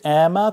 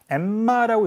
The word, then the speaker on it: Emma: Emma라고 읽지 마시고 Emma. Emma Stone. La La Land 나오는 거죠. 라라랜드. 네. 정확하게 영어로 그렇게 발음하죠. La La Land. 영어는 한 단어, 단어가 겹쳐도 마찬가지지만 자음이 연속되어 있을 때 그 자음을 두 개로 발음하지 않아요. 그게 규칙입니다.